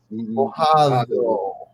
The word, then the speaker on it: mojado: Okay, No, not no, it's not really a hard D sound at the end there. It's actually a more of a the. So it's mojado.